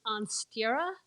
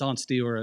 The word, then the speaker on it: Ansteorra: the correct pronunciation is on steerer it should be two syllables because it's Old English for the star but nobody says it